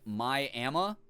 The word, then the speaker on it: Miami: you feel better there's a town here called Miami pronounced my AMA oh God DK you